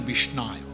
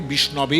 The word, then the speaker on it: বিষ্ণবে: উদাহরণ আছে বলছেন মূর্খাবদন্তি বিষ্ণায় রূপটা সংস্কৃতের রূপ হবে বিষ্ণবে নমঃ বলছেন মূর্খাবদন্তি বিষ্ণায় মূর্খ লোকেরা বলে বিষ্ণায় নমঃ যেমন নরায় তেমনি বিষ্ণায় নমঃ ধীরাবদন্তি বিষ্ণবে যারা ধীর ব্যক্তি তারা সঠিক উচ্চারণ করে উভয় ফল সামান্য দুই